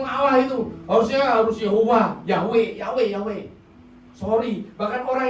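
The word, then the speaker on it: Yahweh: belajar bahasa Ibrani Ya Tuhan itu yahwe y hwh tulisannya ya kalau kita ngomongnya Yehova ya Yehova Tetapi kalau orang Israel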